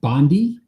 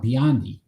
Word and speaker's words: Biondi: And for the Olympics right now, we have Mark Spitz, Jenny Thompson, Matt Bondi. Biondi. Why do I say it wrong? Biondi. Matt Biondi. No, there's an I in there, clearly.